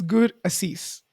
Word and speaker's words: Gurasish: It's Gur Assis.